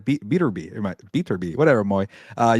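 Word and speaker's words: Beterbiev: it could be bivo or maybe uh uh beb from Russia those guys need to fight by the way a Bibble and beater be I gotta say his name properly my bad uh beater be but uh yeah obviously you got Terence Crawford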